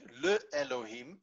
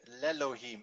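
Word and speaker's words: לֵאלֹהִים: put love before it when you put le before it you do not get le elohim but you get lelo him and you see over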